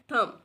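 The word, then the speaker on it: thumb: थम के एंड में जो है वो बी है। बी की जो साउंड है वो इसमें प्रोनाउंस नहीं होनी, बी साइलेंट है, इसलिए हम इसको थम पढ़ते हैं।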